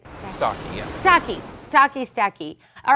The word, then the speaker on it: Starkey: Starkey, yeah.